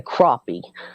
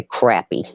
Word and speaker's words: crappie: In Kentucky, they say crappie. In South Carolina, we say crappy.